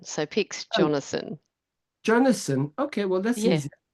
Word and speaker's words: Jonasson: years and uh yes you um am I pronouncing your surname correctly close enough it's actually quite fanatic it's Jonathan so pick Jonathan Jonathan okay well that's easy okay so I